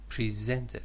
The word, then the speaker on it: present: let's say the Admiral presented you said presented it's present the verb is actually the second syllable is a stressed present okay mm presented is